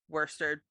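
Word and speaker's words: Worcester: go with the yeah we're gonna go with the New England version the New England way to pronounce things new Worster after founder Amos haro's Hometown Worster Massachusetts fair enough but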